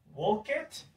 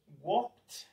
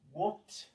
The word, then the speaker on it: walked: We have three possible pronunciations. T, B, ID. We never say it. Walk it, incorrect. Cry it, incorrect. Wanted, incorrect. Then we have specific pronunciations for this. Walked, walked.